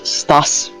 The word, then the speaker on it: CTAC: Also known as STAS. I did not know it was pronounced like that, so Try I to was pronounce pronouncing it wrong the entire time.